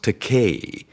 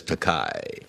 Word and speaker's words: Takei: I said, Bill, it's pronounced Takei. It rhymes with toupee. I thought that would do it. No. It just lies there, and he still says Takai.